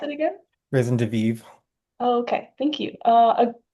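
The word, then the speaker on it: raison de vivre: Will you pronounce it again? Risen de Vive.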